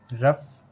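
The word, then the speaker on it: rough: इन words में ओ यू के बाद वर्ड के लास्ट में जी एच आया है और हमने यहाँ पर जी एच का उच्चारण किया है। लेकिन जी एच का जो उच्चारण किया है वो फा लेटर से किया है।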